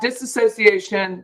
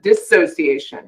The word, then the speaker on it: dissociation: it's a natural reaction disassociation dissociation not disassociate dissociation is a natural reaction